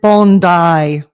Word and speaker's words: Bondi: Hey, Tilly Dreams in the comments is reminding us we pronounce it Bondi, okay, not Bondi Beach.